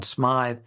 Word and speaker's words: Smyth: by the name of John Smith, or some people pronounce it John Smythe.